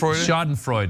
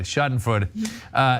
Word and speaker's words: Schadenfreude: Is that how you pronounce that word? Schadenfreude. Schadenfreude.